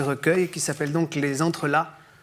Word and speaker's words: entrelacs: qui s'appelle donc les entrreelas le C ne se prononce pas c'est un mot qui